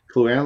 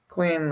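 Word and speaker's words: Kluane: Cluana Lake, is that the one you're talking about? Yeah, Cluane Lake.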